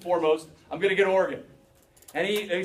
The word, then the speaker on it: Oregon: going to be heading particularly to Oregon and that's how it's pronounced okay farmers who are